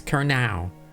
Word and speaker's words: Kernow: But 10 out of 10 for pronunciation. So Kernow, okay. So it's Kernow.